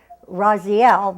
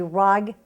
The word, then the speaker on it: Raguel: Everybody wants to pronounce that Raziel, but it's actually Raguel.